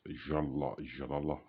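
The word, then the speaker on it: جلال: is a name which is uh pronounced jalal in arabic and is a name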